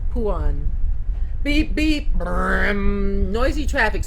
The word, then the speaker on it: Phuan: Puan, Phuan, pronounced Puan.